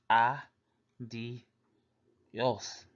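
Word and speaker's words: adiós: Spanish pronounced o la adios which means bye in Spanish pronounce ah d yes or another way to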